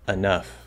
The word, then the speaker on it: enough: in both syllables, but you stress the second one, it will sound perfectly fine. Enough. Enough. Now again, that first syllable is going to tend maybe towards The second syllable is going to tend towards like in cut.